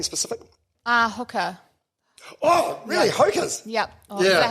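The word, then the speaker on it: Hokas: Hokers? Yep. Yeah. Is that how you say it? Hokers.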